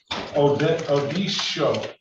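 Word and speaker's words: Odesho: Detroit versus Martin Odisho. Odisho. Give me the correct pronunciation, sir.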